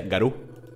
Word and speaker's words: Garú: Creo que es en tu lengua se pronuncia Garú.